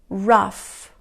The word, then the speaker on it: laugh: en común es que la combinación gh se produce como efe ok esto es muy importante vamos a repetirlos estás caf raf rush acá más hola